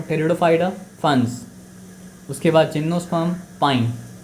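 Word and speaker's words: Pteridophyta: पी यहाँ silent है तो क्या सर आपको, टेरिडोफाइटा, फंस।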